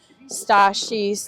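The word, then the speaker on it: Stassie: You have a lot of the hockey players, and then you have Stashi's, that's how you say her name for short, Stashi's friends.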